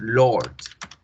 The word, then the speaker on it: Lord: Como por ejemplo la palabra del Señor de los Anillos, Lord. Lord se pronuncia con este sonido. O fíjense muy bien cómo la R no suena.